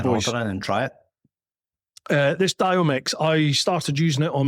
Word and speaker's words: Diomyx: It's called Diomix, and that is spelled Diomyx.